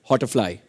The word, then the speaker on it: Hotterfly: Well, next is Jeenal Bhatt from, the question is for Sanjay sir, and it's Hotterfly, if I'm pronouncing it correctly. Yeah. Thank you, Arjun. You did pronounce it correctly.